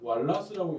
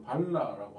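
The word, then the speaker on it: Walras: 그래서 어떤 방식으로 마샬 방식으로 그리든 왈라스식으로 뭐 이거를 불어로 하면 이거 왈라스라고 읽는 거는 이게 영국식 미국식 영어식이거든요. 근데 이걸 프랑스식으로 발라라고 할 수도 있어요. 발라라고 읽을 수도 있는데 어쨌든 왈라스 마샬 어떻게든 그리든 똑같습니다.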